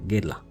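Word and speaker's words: Guerlain: ग्वालेन गिरला, सही pronunciation is गिरला। उसके बाद तीसरे नंबर पर मैं इसको रखना चाहूँगा जीवांची जेंटलमैन रिजर्व प्रीवे।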